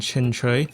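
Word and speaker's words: Qingque: On top of it, uh we have two Hong Kai star roll figures of Fushen and Chinch, that's how you say her name.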